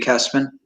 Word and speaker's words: Kessman: people uh what's announced about kestman yeah spell that out for us that yeah so it's my last name is kessman it's k k-e-s-s-m-a-n-n if you google it that